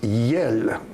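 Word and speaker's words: iels: Et ça se prononce yel.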